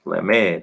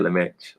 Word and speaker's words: Lamed: So this is Lamed. Oh, that's what they call it, Lamed. Yeah, okay. I was off on that name. I said Lamech or Lamech.